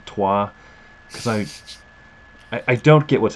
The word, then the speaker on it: Troyes: Can anyone explain to me the rules of a language in which Troyes is pronounced toi?